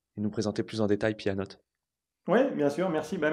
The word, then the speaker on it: pyannote: dira mais c'est un ça ça s'écrit P a 2 n o T e pour le jeu de mots avec à la fois pyon et pianoté et son approche nous invite